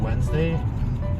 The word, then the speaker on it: Wednesday: Dude, Wednesday? Think of that word, right? Wednesday. Spell it. Like, that's crazy. What other English word has D and N together? That sounds like that.